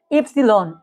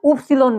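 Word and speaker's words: Ypsilon: এটা ইফসিলন এইটা আমাদের অনেক সময় আমরা কি করি আমরা উফসিলন বলি কিন্তু এটা ইফসিলন উফসিলন না যারা উফসিলন উচ্চারণ করতেছেন তারা আর কি ভুল করতেছেন অনেক ক্ষেত্রে আমরা ভুল শিখে ফেলি এটা কি হবে ইফসিলন আর যেটা শেষে দেখতেছেন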